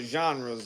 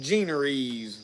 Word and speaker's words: genre: pulls him into other genres at times. I usually call them generes because that's the way it's spelled. It's genre, but it just makes people cringe when I say genre.